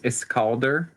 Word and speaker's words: Iskilder: I pronounce it as Iskalder.